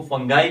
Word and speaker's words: fungi: Third one है kingdom फंजाई या बाज लोग इसको फंगाई भी प्रोनाउंस करते हैं और बाज लोग इसको फंगी भी प्रोनाउंस करते हैं।